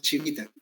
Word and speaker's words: Civita: Se escribe Civita, pero se pronuncia Chivita.